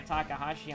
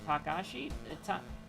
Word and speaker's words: Takashi: little takahashi action and by takahashi i mean takashi i can never say his name right it bugs me but